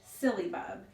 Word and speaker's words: syllabub: very unique sounding word actually derives from the old English silly bub and it's sometimes pronounced and spelled that way silly meaning happy and